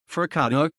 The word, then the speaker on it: forcado: a for cato portuguese pronunciation fercado is a member of